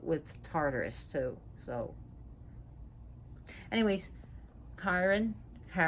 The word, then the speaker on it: Charon: So anyways, Karen, not Chiron, Karen. Some people pronounce it Charon.